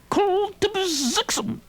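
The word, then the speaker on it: Kltpzyxm: Soupy's gone crackers, and I'll prove it by showing him how this vowel-less wonder sounds when I pronounce it without the vowels. Kultibzixum.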